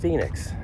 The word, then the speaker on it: Phoenix: P pom nx, but the ph is like an f sound.